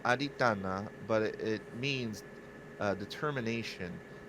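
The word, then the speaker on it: Adhiṭṭhāna: in Buddhism uh I I think it's pronounced Adana but it means uh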